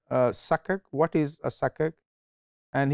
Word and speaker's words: sukuk: and i said uh suckak what is a sake and he said actually i thought this is the right pronunciation because before this i thought that this was suck uk s-u-k uk so now